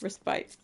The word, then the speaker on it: respite: I think it could be either, is what I found last time I had a thought about the word respite. It's spelled respite. There's an E at the end of it.